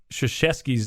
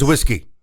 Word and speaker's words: Krzyzewski: How would you pronounce Mike Krzyzewski's name if he wasn't famous? Krzyzewski.